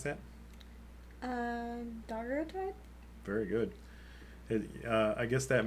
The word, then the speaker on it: daguerreotype: this live stream, and converted to, can you pronounce that? Daguerreotype?